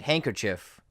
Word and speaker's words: handkerchief: and sometimes we make fun of that and handkerchief where the many words is not pronounced hanker handkerchief so those are a few